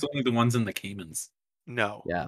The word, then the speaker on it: Cayman: It's spelled like gay man, but with a C instead of the G. Cayman.